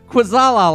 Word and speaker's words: Kwaczala: It is spelled Quackzala. It's spelled Quackzala. but it's pronounced Quazala. KWACZALA. And look for him later tonight What? on Quazala Land.